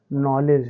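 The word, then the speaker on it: knowledge: जाएगा बच्चों यहां देखिए एन के बाले के आया है तो इसको नहीं पढ़ेंगे तो ये पूरा हमारा क्या हो जाएगा बच्चों नॉलेज हो जाएगा तो उमीद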